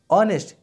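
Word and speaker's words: honest: ऐसे हमारा देखा जाए हमारे यहाँ पर डैश ऑनेस्ट मैन, ऑनेस्ट इसमें एच क्या है, साइलेंस है, इसलिए यहाँ पे कहते हैं किसका उच्चारण हो रहा है, ओ का हो रहा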